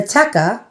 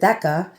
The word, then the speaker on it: theca: And it describes the teca, or I used to pronounce it theca, and it's rotundae, meaning round, metallico.